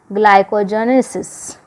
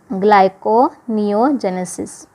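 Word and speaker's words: gluconeogenesis: If necessary access of proteins are converted into useful substance like glucose through the process of ग्लाइकोजेनेसिस, ठीक है, ग्लाइकोनियोजेनेसिस इसका ये pronunciation है।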